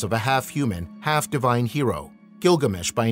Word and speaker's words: Gilgamesh: His name, for a time provisionally read Gijdubar or Izdubar, but now known to have been pronounced Gilgamesh, suggests that he was